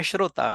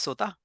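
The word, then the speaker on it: श्रोता: You are a Shrota.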